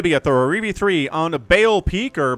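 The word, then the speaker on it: Baal Peak: Today going to be at the RV3 on Bale Peak or Ball Peak. Not entirely sure. I think it's Bale. B A L. I was taught to pronounce that Bale when I was a kid.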